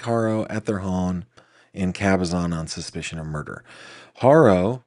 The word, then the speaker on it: Cabazon: Oh, that's just painful saying Cabazon, but that's how they pronounce it.